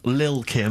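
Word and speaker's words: Lil' Kim: I'm pronouncing that correctly, Lil Kim. Oh, no T's involved.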